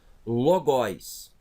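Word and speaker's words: λόγοις: Então, logóis. Logóis. Notem que o iota aqui ele vai ser pronunciado porque o ômicron não é uma vogal longa.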